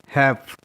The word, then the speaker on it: half: Example हैव, HALF, हैव, यहाँ पर HA और F का प्रोनाउंसिएशन हो रहा है बट L का उच्चारण नहीं हो रहा है.